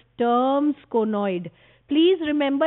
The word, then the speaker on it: Sturm: This bundle of rays is called Sturm's conoid. Please remember, it does not rhyme with drum. It is not strum. It is Sturm.